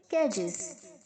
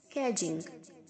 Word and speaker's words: cadge: कैजेस, कैजिंग, D silent है, सो कैज।